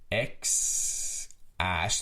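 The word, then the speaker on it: X Æ: It's X Ash. That AE apparently means Ash.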